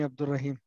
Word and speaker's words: Abdraim: pronounce the name correctly he says you can call me Abdraim so you can say